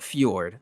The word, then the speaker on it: Fjord: Going to be GlobalClan versus Fiord Gaming. I don't know if I'm necessarily saying that uh correctly. They've got the the Fjord. There we go. They got the Swedish, I guess, pronunciation going on there.